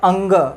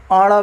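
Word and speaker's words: ङ: अगर क, ख, ग, घ, अंग अगर दिया है, बहुत से लोग प्रोनाउंसिएशन में क, ख, ग, घ, अण भी बोलते हैं, लेकिन वो क्या है, गलत है। क, ख, ग, घ, अंग।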